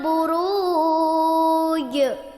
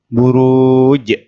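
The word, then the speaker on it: البروج: damai izzatil buruj baik yang perlu diperhatikan pada air pertama ini wasana iya minimnya panjang2 ayunan kemudian ratib ya dan nya panjang satu ayunan buruj roknya dibaca panjang dua ayunan dan di akhir ayat dibaca qalqalah artinya dipantulkan buruj baik silakan didengarkan lagi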